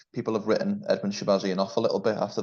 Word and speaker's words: Shahbazyan: How you pronounce his name again? Shahbazyan.